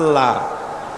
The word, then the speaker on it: আল্লাহ: আল্লাহ এই উচ্চারণটা আমাদের অনেকের হয় না, কেউ বলে না আল্লাহ। আল্লাহ পাকের উচ্চারণটা হচ্ছে, আল্লাহ পাকের নাম উচ্চারণ হচ্ছে আল্লাহ। মুখটা একটু গোল হয়ে যাবে, বলেন আল্লাহ আল্লাহ।